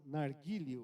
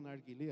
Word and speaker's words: narguilê: manejar manusear isso entramos no narguil ou narguilê As duas pronúncias são corretas por conta de localização é um tipo de